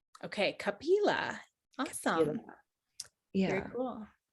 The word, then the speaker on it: Kapila: Okay, see it so it's Kapila. Okay, Kapila.